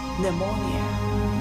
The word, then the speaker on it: pneumonia: 词，但是读音却是 pneumonia。